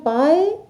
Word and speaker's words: पाई: ऐसे लिखते हैं जैसे मैंने दिखाया है, और प्रोनाउंस करते हैं पाई, और यह रिप्रेजेंट करता है अंग्रेजी का लेटर पी।